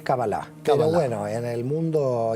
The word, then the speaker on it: cábala: la cábala en sí no sé si lo pronunció bien en doctores cábala o cábala en realidad es cábala todo bueno en el